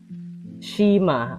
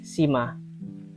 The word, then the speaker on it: Cima: Yang ini dibacanya shima atau sima.